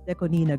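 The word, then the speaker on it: DECO*27: them and popular otitis include mafumafu yes it's pronounced not nurse narose not 96. before just like with Deco 27 it's deconina guys yeah yeah singer and although currently popular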